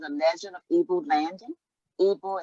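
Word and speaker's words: Ibo: Ibu is spelled I-B-O and sometimes I-D-B-O.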